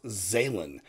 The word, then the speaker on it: Zhalyn: video and i believe the title is pronounced zaylen i am excited for